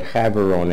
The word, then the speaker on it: Gaborone: South Africa and the capital is having only Gaborone but have aroma is how they would pronounce it sitting in the southern tip here's